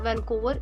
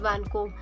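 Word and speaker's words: Vancouver: हमारे पास आर एंड पे जो है वो silent it इज़ नॉट वैनकोवर इट इज़ वैनकोब इन सबके बारे में थोड़ी बहुत बात कर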